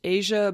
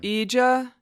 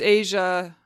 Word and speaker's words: Eja: to their son this poor child's name is pronounced Asia but it is spelled EJ a I could